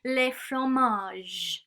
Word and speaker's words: les fromages: Okay, the sound button doesn't want to work for this one, but the pronunciation is les fromages. Les fromages. So we pronounce the R, and we pronounce the j, like our car.